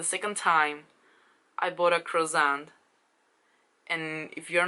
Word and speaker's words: croissant: doing some interviews, he pronounced croissant as quaxon, like a real bad pronunciation.